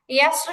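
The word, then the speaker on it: يسر: ইয়াস্র শব্দটি নিয়ম অনুযায়ী এটা মোটা হওয়ার কথা। কিন্তু নিয়মের বিপরীত হয়ে এই শব্দটা পাতলা করে উচ্চারণ হবে।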